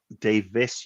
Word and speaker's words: Davies: You're saying it right, Russell T David. Yeah, Russell TD. Davis, you plum, not David.